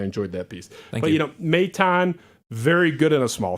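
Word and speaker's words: Maton: I mispronounced. Is it Matane? Matane.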